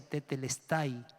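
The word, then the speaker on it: τετέλεσται: palabra consumado es una palabra griega que se pronuncia tetelestai es una palabra que se usaba para poner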